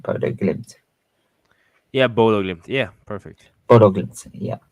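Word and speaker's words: Bodø/Glimt: Yeah, Bodo Glimt.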